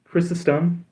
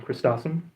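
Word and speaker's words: Chrysostom: John Chrysum is is how I've been told is the correct pronunciation. Um, I know some people will correct me and say, um, Christosum, but that would require another T in the name.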